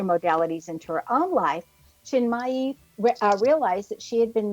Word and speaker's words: Chinmayi: Our expert tonight is Julie Chinmayi Door. And I might have misspel mispronounced that middle name.